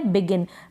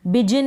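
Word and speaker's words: begin: तो ये स्पेलिंग है बिगिन, बिजिन नहीं पढ़ेंगे।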